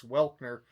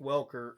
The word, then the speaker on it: Welker: S- If you're north in the Springs, uh it's Welkner. Uh everyone else in the world, it's Frank Welker.